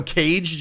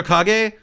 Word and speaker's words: kage: i thought it was shadow cage jutsu not shadow kage man i'm done i was